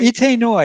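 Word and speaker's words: Itay Noy: Itoy, see if I'm pronouncing it correctly. Itai Noi? Itai Noi? Ite Noy, yes, Yeah.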